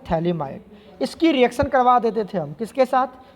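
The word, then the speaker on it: phthalimide: क्या बोलते थे, PTHA, प्रोनाउंसिएशन ऐसे होता है, PTHALIMID, इसको बोलते हैं थैलिमाइड।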